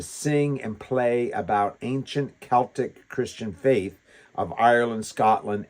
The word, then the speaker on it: Celtic: And they loved and to sing and play about ancient Celtic Christian faith of Ireland, Scotland, England, and Wales. Now, I say that word Celtic cuz if any of you are Boston basketball fans, you say, "That's not right.